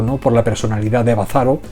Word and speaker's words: Bazarov: Bazarov, como lo escriben aquí con el acento en llana.